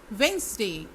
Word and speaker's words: Wednesday: Wednesday, Wednesday, Wednesday, इसमें D silent है।